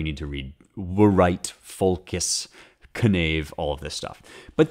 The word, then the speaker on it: knave: But I need to pronounce consonants at the beginning of words, even if there's a double consonant. So we would say knave, K-N-A-V-E, but I learned here it's actually pronounced knave.